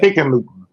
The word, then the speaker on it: Hickenlooper: The incumbent Senator John Hickenlooper, how do you pronounce that? Hickenlooper. Yeah. Hickenlooper.